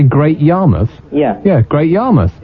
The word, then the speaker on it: Great Yarmouth: how would I say Great Yarmouth yeah yeah Great Yarmouth not great Y mouth you want to get you want to get